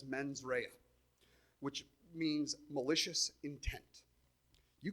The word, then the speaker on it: mens rea: to butcher this, but I believe it's pronounced as mens rea, which means malicious intent.